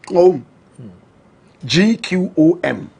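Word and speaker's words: Gqom: Correct pronunciation. Guo M. They say it with a click of the tongue.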